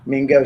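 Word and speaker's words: main gauche: Uh, it's from the French meaning left hand. So it is spelled m a i n e and then a space and go is g a u c h e.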